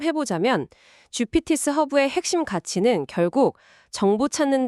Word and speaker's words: GPTs 허브: 네이버나 구글에서 GPTs 허브라고 검색하시면 됩니다.